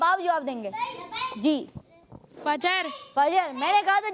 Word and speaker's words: فجر: بھائی جی جی فجر. فجر. جی فجر. فجر. اصل جو تلفظ ہے اس کے وہ ہے فجر.